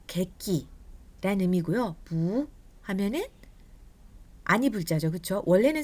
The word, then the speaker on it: 不: 원래는 아니 불자 같은 경우는 성조가 사성이라고 했었죠. 뿌라고 하지만 뒤에 사성이 올 때는 이 원래 사성이었던 뿌가 이성으로 바뀌면서 부 이렇게 발음이 된다라고 저희가 지난 시간에 배웠습니다.